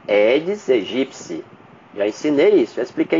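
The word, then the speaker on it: Aedes aegypti: é o aeds egipci que é a pronúncia correta edes egipci Já ensinei isso já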